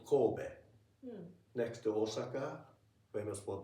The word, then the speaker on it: Kobe: And just as Just don't as put E. It's not Kobe. Kobe.